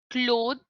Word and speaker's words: cloth: The next, cloth, cloth, जैसे आप बोलते हैं clock, the way you pronounce clock, O for orange, O for opportunity.